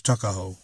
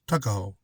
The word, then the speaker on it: Tuckahoe: Eastern Shore men usually pronounce the word took as tuck. Tuckahoe, therefore, is in Maryland parlance Tuckahoe. But, whatever may have been